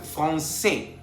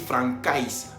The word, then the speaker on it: français: C avec cédille tiene la pronunciación S. Por ejemplo, français, para no decir francais. Entonces, C français tiene el sonido S, que siempre se va a pronunciar S. Por ejemplo, français, para no decir francais, decimos français.